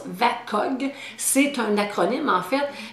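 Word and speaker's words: VAKOG: Alors, ça se prononce VACOG, c'est un acronyme en fait, mais c'est pour parler des sens.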